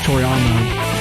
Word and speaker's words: Toriyama: I didn't get that name wrong, right? Yeah, Toriyama.